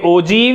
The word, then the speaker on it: ogive: हुण आपां इसदा बनावांगे ओजीव यानी कि तोरण। हाँ जी, इनू ओजीव बोलते ने, वर्ड है OGIVE, सो प्रोनाउंस हुंदा है ओजीव इस तरह।